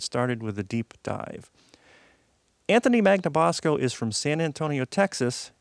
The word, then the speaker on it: Anthony Magnabosco: I'm Brian CER and my guest today is Anthony magnabosco Anthony how are you doing today and thank